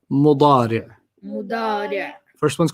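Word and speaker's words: مضارع: And then the present is mudari'. Mudari'. Mudari'. You don't have to pronounce the tanween, just mudari'.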